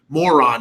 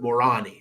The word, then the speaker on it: Moroni: Moroni something like that more on e more on e I guess I guess the locals would pronounce it more on e we would pronounce it